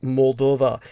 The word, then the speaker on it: Moldova: Yes, Transnistria, and that would be located on shall we say, the eastern border of Moldova. So Moldavia, or Moldova, it can be pronounced either way actually, is where the Dniester